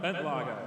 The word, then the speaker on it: Bentlager: Jan Bentlager. Oh, he actually pronounced the name right. Well, close Yeah. enough. I heard him Close pronounce it Jan Bentledge earlier. Jan Bentledge? As a lot of UK people do.